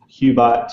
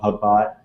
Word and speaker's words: Hubot: Um and so there's GitHubs, Hubot, um I've heard it pronounced Cubot, too, but I I think GitHub, Hubot.